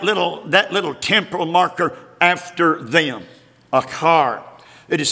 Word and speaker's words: achar: Even that little temporal marker after them, achar. It is spelled A-C-H-A-R.